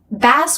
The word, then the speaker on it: bass: Bass with the A vowel is a kind of fish.